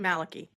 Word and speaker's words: Malachi: and the case is from a book by Malachi Martin Maliki or Malachi ma well uh he pronounced it Malaki Malaki okay yep father Maliki Martin so I